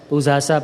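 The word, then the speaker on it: pūjā ca: Pujacha Pujaneyanam. We Burmese pronounce that as Pujasa Pujaneyanam. And the meaning is to honor those worthy of honor.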